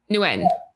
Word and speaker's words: Nguyen: Nguyen or Nguyen? Nguyen. Nguyen. Don't use the G, yeah.